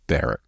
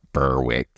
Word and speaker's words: Berwick: killed yeah by the way my kid North bar not Berwick my birth mom is from Berwick Nova Scotia